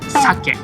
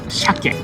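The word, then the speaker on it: 鮭: Salmon in Japanese is sake. Sake. It's same pronunciation as alcohol, sake. I think the correct pronunciation is sake, but many Japanese call sake as shake.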